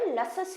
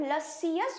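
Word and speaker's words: luscious: इसके सारे सिलेबल्स को ब्रेक नहीं करते हैं। ज्यादातर लसस ही बोला जाता है। बट लसियस बोल सकते हैं। तो इतना खींचना नहीं है।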